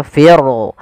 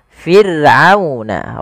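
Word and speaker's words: فرعون: huruf ro yang didahul dengan huruf kasrah maka rnya tipis tidak boleh dibaca fir fir tidak tapi Fir'a firuna rya tipis kita namakan dengan ro tarqiq.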